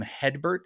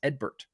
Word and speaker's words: Edbert: know here's one uh everybody calls him hedbert it's edbert yeah it's Edward with a silent h and I think a